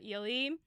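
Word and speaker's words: Ehle: name is so when people emailed us about jennifer ely we had already recorded all 11 episodes that we did on the 1995. and i just tacked a thing on the beginning and was like hey everybody we're gonna say jennifer eel for the next 11 episodes strap in please don't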